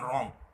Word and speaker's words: রং: বুঝবো একটা উদাহরণ দিই যেমন ধরো আমি লিখলাম রং র অনুস্বার রং তাহলে অনুস্বারকে যখন আমি স্বাভাবিক অবস্থায় দেখছি তখন কিন্তু এর প্রকৃত উচ্চারণটা বুঝতে পারছি না যখন আমি একে অন্য